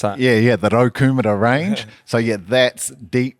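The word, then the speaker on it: Raukumara: How do you pronounce that? Yeah, the Rokumura range.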